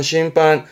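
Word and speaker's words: 審判: 발음은 심판, 말 그대로 심판이죠. 심판, 심판. 발음 조심하시고 심판입니다.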